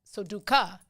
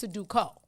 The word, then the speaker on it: Sudoku: People say Sudoku. It's Sudoku. Sudoku, yeah.